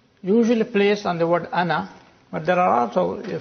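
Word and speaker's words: أنا: When you pause ana, you read the alif, pronounce the alif. But ana Muhammadun, ana Talibun, then you don't pronounce the alif, as if it is hamza plus noon fatha, ana, not ana.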